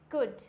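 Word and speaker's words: could: For example कुड, क्या हो जाएगा? कुड। यहाँ पे क्या है? डी से पहले है तो क्या हो जाएगा? Silent. कुड, वुड, शुड। Clear हो गया? यहाँ पे सब में क्या है? डी से पहले है और डी से पहले होता है तो ये हो जाता है साइलेंट।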